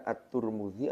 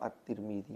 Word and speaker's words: at-Tirmidzi: sudah kita bahaskan seperti at-tirmidzi itu ternyata bisa dibaca at-turmudzi atau at-tirmidzi makanya ada nama orang